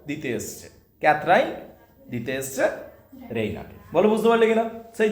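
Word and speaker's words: Raina: রেইনা, সে প্রনাউন্সেস ইট রেইনা, সে এইরকম ভাবে প্রণাম করছে। উচ্চারণটা একটু আলাদা হবে যেহেতু ব্রিটিশ, ওরা এমনি ইউরোপিয়ান। ঠিক আছে, উইথ দ্য স্ট্রেস অন রে, ইয়ের উপর বেশি, রেইনা, রাইট?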